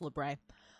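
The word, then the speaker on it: labret: a you know a lebret however you want to pronounce it it's technically French so it's lbre um and uh yeah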